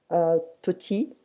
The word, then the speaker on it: petit: So prononciation, petit, petite.